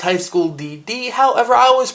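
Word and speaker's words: High School DxD: I just wanted to acknowledge that yes, I know it's pronounced DD, but I like to pronounce it with the X.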